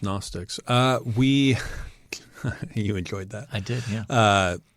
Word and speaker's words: Gnostics: I I think I I believe it's pronounced Gnostics.